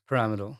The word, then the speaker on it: Piramidal: Pyramid Pyramidal. Um, is that how you say it actually? Parameal.